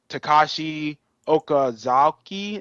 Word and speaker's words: Takashi Okazaki: It's Takashi Okazaki, is how you say it.